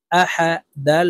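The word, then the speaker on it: أحد: আ হা জবর হা আহা দাল দুই পেশ দুন আহাদুন দালকে ওয়াকফুর ক্ষেত্রে সাকিন করে ফেলবো আহাদে দাল যেহেতু কলকালার হরফ নিচের দিকে ধাবিত করে ধাক্কা দিয়ে উচ্চারণ করব আহাদে কুলহু আল্লাহ আহাদ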